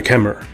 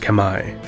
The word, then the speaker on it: Khmer: the territory which is now modern-day Cambodia the Kemmer correctly pronounced Kamai or Khmer or Cameron English are an ancient